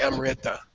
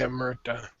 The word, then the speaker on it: Amrita: Just you have to be aware that the correct pronunciation of a vocalic R is I-R, not R-I. You don't say Amrita, you say Amrita.